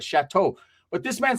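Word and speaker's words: Shatto Park: It's a very well-known in Los Angeles click of 18 Street, which is actually pronounced Chateau Park, right? Not Shadow, like the shadow, but Chateau.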